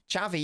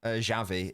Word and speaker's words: Xavi: Xavi, yeah, that's how you pronounce Xavi because of the region he's from. It's not Xavi, it's Xavi.